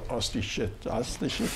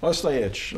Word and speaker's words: Ostojic: of my friend Ostishit. Wow. I can't say it right. I butchered his last name. Say your last name? Ostojic. Ostojic. All right, that time I got it.